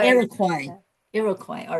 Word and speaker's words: Iroquois: Iroquois. Iroquois.